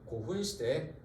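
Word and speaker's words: 古墳時代: 조이 때 지은 거는 전방후원분을 지은 시대, 거대한 고분을 지은 시대여서 부르는 말 고분시대. 발음으로는 고훈시대입니다. 전방후원분을 지은 시대. 어떤 시대? 고분시대, 고훈시대.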